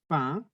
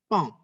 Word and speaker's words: pain: Hati-hati, banyak orang salah mengira bahwa kata ini, roti, pain, itu bacanya pong. Beda. Kalau pong, nanti jadi merak ya. P-A-O-N, itu bacanya pong. Sedangkan P-A-I-N bacanya pain. Hati-hati.